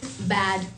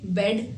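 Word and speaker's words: bad: Next word है बैड tempered. अच्छा, इस वर्ड की प्रोनाउंसिएशन बेड नहीं है, बेड मतलब बिस्तर होता है, इसकी प्रोनाउंसिएशन है बैड।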